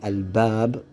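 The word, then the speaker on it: الباب: When you add alif al-lam, it becomes al-bab, with you pronouncing the lam.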